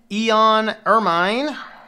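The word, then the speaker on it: Eoan Ermine: So this is pronounced Eon Ermine.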